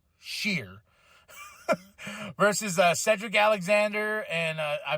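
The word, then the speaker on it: Sher: Indus Sheer, not Share, Sheer.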